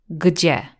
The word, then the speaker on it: gdzie: we will say gdzie, gdzie. At first it might sound difficult to pronounce, but let's see the sounds in the word gdzie. Let's split it up.